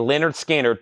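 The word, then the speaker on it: Lynyrd Skynyrd: quintet that's $44.99 and Leonard skinnard pronounced Leonard skinnard also analog Productions shered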